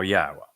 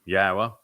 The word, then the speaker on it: Yahowah: W again uh and the W is pronounced as an o sound as it is in Torah as it is in shalom and since the Torah is where we're reading these narratives from yahwah he explained in the